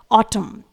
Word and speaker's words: autumn: Example देखेंगे, word है ऑटम, spelling है AUTUMN। आप देख पा रहे हैं रेड कलर से एन लेटर लिखा हुआ है जो कि साइलेंट रहेगा।